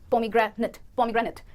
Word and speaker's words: pomegranate: Nate, pomegranate नहीं है, अगर कोई भी वर्ड इंग्लिश लैंग्वेज में ATE से एंड होगा तो it नहीं पर it कहेंगे, it। तो ये प्रोनाउंसिएशन बन गई pomegranate।